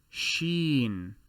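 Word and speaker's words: شين: the three dots and this letter is known as sheen which is the s h sound in english the scene is the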